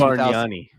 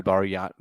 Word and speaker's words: Bargnani: I think it's Bargnani. It's probably Bargnani. He's out of a league. I think the G is silent in yeah, like you're right.